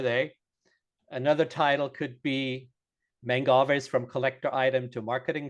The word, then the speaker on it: Mangave: I've heard people say Mangave, which is not a man cave, kind of hurts. It's Mangave, man from Manfreda, and the agave part from agave.